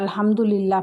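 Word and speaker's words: الحمد لله: অনেকে আলহামদুলিল্লাহ পড়েন, এটা পড়লে হবে না, এটা বড় হা দিয়ে শুরু হয়েছে।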